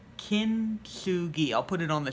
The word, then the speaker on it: Kintsugi: One thing is that this is actually called Kintsugi. I was thinking Kitsune, which is a fox spirit, but Kintsugi.